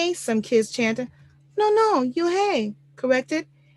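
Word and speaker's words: Unhei: up her face some kids chanter no no you hey corrected it's spelled u n h e i it's pronounced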